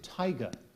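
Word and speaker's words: taiga: all right uh and this word has a near homonym the word is Tiger it is the swampy coniferous forest of Siberia beginning where the tundra ends tiger t a i g a tiger correct quickly done there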